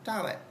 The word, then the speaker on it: Dalet: So the first letter I'm going to teach you today is Dalet. It is pronounced as a D, as in dog.